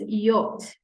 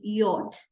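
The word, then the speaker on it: Jot: J is known as yacht the name of this letter in German is not J rather it is yacht and just like its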